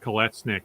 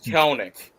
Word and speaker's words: Kelenic: where they traded away Jared Kolesnik, or I'm maybe mispronouncing. Yeah, Jared Kelenic.